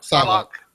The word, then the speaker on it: Psylocke: Magneto and I always get her name wrong. Psylocke.